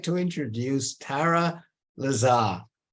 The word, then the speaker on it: Tara: how to say this I'd like to introduce Tara Lazar rhymes with a flat cat right well I guess so black cat I please you because sometimes people say Torah right and sometimes people say so I taught I taught Rick here to